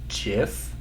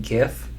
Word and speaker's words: GIF: officially supposed to be GIF, not GIF. I'm pretty sure it's short for graphics something something, which, why would you switch from a hard G sound to a soft, like, G or J sound?